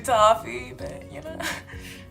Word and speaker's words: toffee: pronunciation or you know I call them Sophie in my last video but it's actually toffee no but she dished